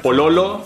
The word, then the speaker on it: pololo: boyfriend and girlfriend poo boyfriend POA girlfriend as in police lo as Loco lo as in Loco again if it's for a guy and La as in Las Vegas if it's for a girl po POA number 10 Plata